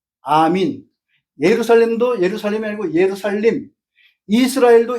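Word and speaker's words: ἀμήν: 이런 현상이 아멘도 아멘이 아니에요. 아민.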